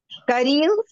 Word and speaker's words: caril: Carillo is curry. You are noticing these words that end with L, R, and Z, they are stressed on the last syllable. Carillo. And you say carillo.